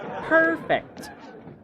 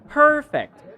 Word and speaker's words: perfect: If you are talking about the noun, then you should have the syllable on the first first syllable. You should have the first no you should have the stress on the first syllable.